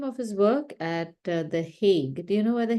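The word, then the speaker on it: Hague: also certain International organizations so it's spelled h a g u e he the heg and in Dutch it's often also called dhog so while my yellow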